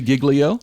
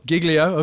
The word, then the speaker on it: Giglio: understand you're European, but his name is Louis Giglio. Gigglio.